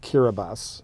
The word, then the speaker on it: Kiribati: an s so they they replaced every s sound with the ti but anyway if if